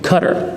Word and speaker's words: Qatar: So just for his sake again, once again, Qatar.